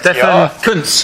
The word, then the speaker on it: Stefan Kuntz: The first name is like Stephen, but that foreign sounding Stefan, one. yeah. Correct. Stefan Kuntz. Correct, well said, well said.